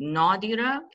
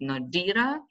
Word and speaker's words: Nodira: And then like asking stress, which syllable is stressed? Is it Nodira? Is it Nodira? Is it Nodira, right? So depending on pronunciation, it can be all 3 in Uzbekistan, right?